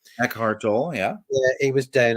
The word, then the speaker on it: Eckhart Tolle: Eckhart Tolle, yeah.